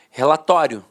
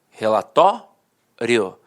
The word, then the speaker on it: relatório: Falava assim, ó, relatório, relatório. A penúltima sílaba era a sílaba mais forte e a última, de fato, perdia a força.